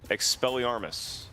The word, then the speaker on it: Expelliarmus: no see out that deed expelliarmus that's how you pronounce buddy that was right know when guardian